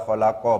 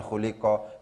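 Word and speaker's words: خَلَقَ: Kenapa kok fi'il maklum karena cara bacanya tidak diikutkan pada kaidah majhul bacaannya adalah kholaqo bukan khuliqo karena maklum maka Putu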